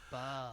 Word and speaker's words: Bawb: You're saying it wrong, Val. It's Bawb. Bow!